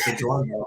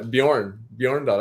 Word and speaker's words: Bjorndal: So your last name's not Bjorndal. I always thought it was Bjorndal, but you said you didn't pronounce the J. No, Bjorndal.